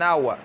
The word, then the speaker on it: hour: ہے ایک گھنٹہ، an hour، an hour، an hour۔ اب دیکھو لکھا ہوا تو ایچ ہے لیکن اس کا تلفظ نہیں ہو رہا، بلکہ تلفظ میں جو ہے واول کی آواز آ رہی ہے، تلفظ میں واول کی